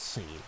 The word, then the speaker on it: Sean: Same as Sean. If your name's spelled S-E-A-N, that's Scene. It's not Sean. Scene.